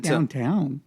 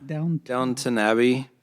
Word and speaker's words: Downton Abbey: I know, not downtown. What's it? How do you pronounce it? Downton. Downton Abbey.